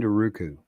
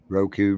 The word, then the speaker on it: Roku: nice thing about it if you've checked in Ruku Roku Ruku however you want to pronounce it right yes usually get set up